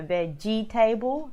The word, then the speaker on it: vegetable: hang on turn pull the three syllables instead of four eliminate the extra e so veg'table it's wrong vegetable three syllables is how you say it let's put this in